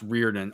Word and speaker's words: Riordan: I think it's pronounced Reardon. Archbishop Reardon High School.